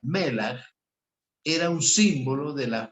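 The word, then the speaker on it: מלח: sal, como la sal, en hebreo se pronuncia melach, era un símbolo de la justicia de Cristo, que garantiza la aceptación del ofrecimiento del perdón y la redención.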